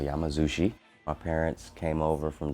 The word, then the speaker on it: Yamazawa: We feel the same things like say my name right, respect my. Everybody say Yama. Everybody say Zawa. Everybody say. We are at my parents' Japanese restaurant called Yamazawa.